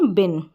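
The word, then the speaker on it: bin: बताया अब यहां पर बिन स्पेलिंग दी है बिन तो ये जो है ना इसको इस तरीके से लिख ले बिन बीन नहीं है बिन है ठीक है ये हो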